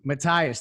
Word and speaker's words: Mathias: Matthias, there we go.